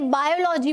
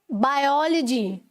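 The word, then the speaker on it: biology: बोल दी, ठीक है, मैंने बायोलॉजी बोल दिया, जबकि होता क्या है, बायोलॉजी, ठीक है। ओ पर स्ट्रेस है, तो तब आपको अपनी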